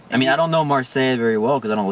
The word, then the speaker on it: Marseille: i don't know i don't know how to pronounce this he travels to mars marseille marseille yeah yeah that's the south of france